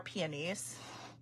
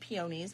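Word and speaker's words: peonies: I think that the they are peies, which I thought forever you said pionies, but then I learned how to say it correctly.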